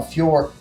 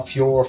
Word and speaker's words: Fiorot: Valentina Shevchenko, Manon Fiorot, we went over the pronunciation with Manon Fiorot, Fioro, whatever. She still says Fiorot, final answer, sorry.